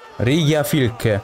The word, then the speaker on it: Rigjafylke: Rigjafylke. Così si pronuncia.